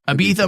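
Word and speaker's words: Ibtihaj: Ibitha Muhammad.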